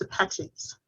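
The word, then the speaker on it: Sepetys: last name it is s-e-p-e-t-y-s it's called it's pronounced apaches and her first name is r-u-t-a thank you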